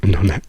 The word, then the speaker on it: pneumonia: which doesn't exist so we say pneumonia it's written pneumonia but we remove the p and pronounce only the n we say pneumonia so Pal doesn't exist